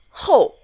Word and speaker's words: 后: 很多 The next one is pronounced 后 We met in the word 有时候 which means sometimes.